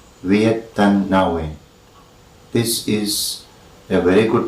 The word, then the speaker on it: Viet Thanh Nguyen: and it is pronounced Viet Thanh Nguyen. Viet Thanh Nguyen. The spelling is quite different and it is not read like any names of English.